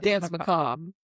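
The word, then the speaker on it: Danse Macabre: Dance Macob.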